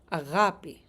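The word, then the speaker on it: αγάπη: but I thought the word for love was agapi.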